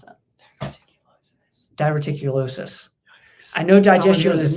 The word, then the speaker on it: diverticulosis: gone into diverted VI diverted how do you pronounce that dulosis diverticulosis I know digest spelling I know digest is